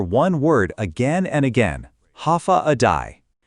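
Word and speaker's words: Håfa adai: Ha adai pronounced ha a day.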